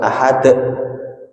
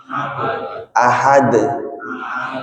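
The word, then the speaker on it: أحد: Itu bukan ahad, tapi ahad. Itu bukan tapi somad, bukan somad tapi somad.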